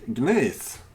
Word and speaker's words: gneiss: And in case, and if anyone wonders how to pronounce gneiss, you actually say gneiss very easily.